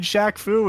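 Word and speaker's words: Shaq Fu: kauri nezu set and Shaq Faust jackfu is correct why did you say it like that have you played Shaq Foo it should be obvious select again Faust uh one-on-one for 800.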